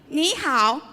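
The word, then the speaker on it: 你好: to say it ok now repeat after me Nihao we have very good so next time if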